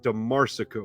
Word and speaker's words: DeMarsico: It's DeMarsico, right? I'm saying it right every time? Nailed it, man. I grew up in North Carolina with a 4-syllable last name.